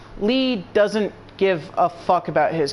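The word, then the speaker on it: Lea: long and that is ax ax I mean Lee seriously why why are these names so weird it's spelled Leia why is it pronounced Lee so Axl is now an honorary Keyblade user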